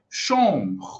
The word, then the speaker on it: chambre: De uma forma geral, quarto em francês é chambre, chambre. Não é chambre, chambre, não. Chambre, esse E aqui é mudo, tá bom?